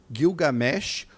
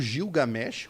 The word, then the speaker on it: Gilgamesh: é novo já existia epopede guilgamesh ou gilgamesh como algumas outras pessoas falam enfim você pode escolher só a pronúncia nós tivemos o kojique